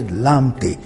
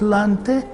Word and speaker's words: Lante: We say Lamte. There's no Lamte in Ghana, it's Lante.